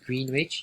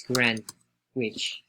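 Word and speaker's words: Greenwich: mean time plus and i say grand ridge but you write green rich if i know mistake it's green which that's the city but we pronounce grand which all right so we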